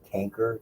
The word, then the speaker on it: chancre: And the thing is, we do what we call hard chancre or canker, depending on who pronounces it, on the genitalia, very obvious in the male, not so obvious all the time in the female.